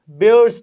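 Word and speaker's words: Baeyer's: हाइड्रोक्सिलेशंस also called बेयर्स test, या कुछ इसको बायर्स टेस्ट भी कहते हैं। सो ये डिफरेंट प्रोनाउंसिएशंस हैं।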